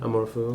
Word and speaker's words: amour fou: How do you say that? Amorfou? The Amorfou? Amorfou. Oh, Amorfou, yeah. Wait, what? Amorfou, like it's French for love, I think.